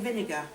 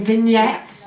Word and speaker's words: vignette: I keep saying vinegar. Well, yeah, I started off by saying vinegar on the show, but it's actually a vignette.